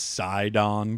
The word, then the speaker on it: Sidon: oh well teleport here I guess it's pronounced side on quests it's almost surprising it isn't with Nintendo's weird naming structure sometimes and sidon is the favorites hey